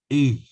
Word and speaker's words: Aodh: That's pronounced in two ways in Irish, depending on what part of the country you're living in. In the north, it tends to be pronounced E, AODH, E. And in the south, it tends to be pronounced A, E and A. That's very important because From